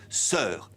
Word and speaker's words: sœur: À la fin du Moyen-Âge, ces diphtongues se sont réduites à une voyelle simple et on a prononcé sœur. Mais comment écrire ce son E? Le plus souvent, on le transcrivait par EU, comme dans fleur. Mais pour certains termes, les